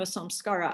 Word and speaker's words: samskara: so the question was um do some scaras s-a-m-s-k-a-r-a and then s makes it plural do some